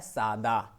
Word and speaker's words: सादा: अक्सर हम लोग जो है ये शब्द यूज करते हैं, जबकि साधा नहीं होता है, होता है सादा।